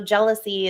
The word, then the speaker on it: Gelici: It is under Jealousy Blue _LV, and I'll spell it out for you because it's GELICIBLU _LV. So Jealousy is my name and my best friend's name.